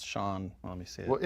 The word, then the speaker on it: Sean: Seen Bean Sean Pan.